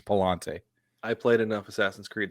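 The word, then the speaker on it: Pallante: did say it correctly it's not payante okay it's two L's it's Palante I played enough Assassin's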